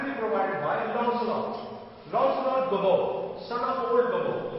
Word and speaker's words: Lancelot: Lancelot Gobbo, son of old Gobbo. His pronunciation is Lancelot, not Lancelot. Lancelot.